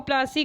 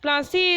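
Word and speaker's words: Plassey: प्लासी इज एन in pronunciation of प्लासी एंड द प्लेस derived it's name from the पलाश tree known for its beautiful red flowers that yield gulal, the powder used in festival of Holi। जो प्लासी नाम था वो एक बिगड़ा, English pronunciation means बिगड़ा हुआ pronunciation है किसका, पलासी का।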